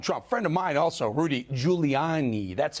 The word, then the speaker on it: Rudy Giuliani: Let's bring in former mayor of New York City, former attorney for Donald Trump, friend of mine also, Rudy Giuliani.